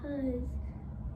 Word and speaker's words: hose: The next one, hose, is a silent E word, and you Yeah.